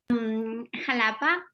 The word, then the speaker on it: Jalapa: Jalapa.